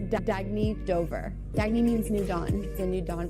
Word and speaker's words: Dagne: good you can live life intentionally oh it's pronounced dagne do dagy means new dawn it's a new